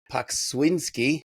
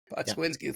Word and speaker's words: Pokswinski: I've got Scott I just said it right before, and now all right, Pokswinski. Did I get it right? That's it. Pokswinski, thank you.